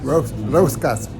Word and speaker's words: roscas: Roscas? Roscas. If you can roll your R's, I'm impressed with you.